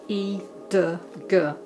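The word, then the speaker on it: 一得阁: The one I'm using here is called, the brand is called E de Ge. E is spelt Y-I, de D-E, and Ge, G-E, E de Ge.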